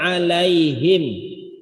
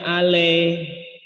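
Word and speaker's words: عليهم: Pada kata alai bukan bacanya ale, alaihim, ale. Kalau le itu orang sono, ya. Halo le, gitu ya. Oke le, gitu ya. Bukan ale, alai. Kalau kita mungkin pakai i ya tulisannya ejaannya. Kalau irada ribet pakai y, lai. Ya, karena karakter bunyi ya itu y.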